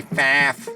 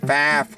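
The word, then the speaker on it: Pfaff: made by fought or for you people that can't pronounce the word correctly made by faf faff yeah but it's an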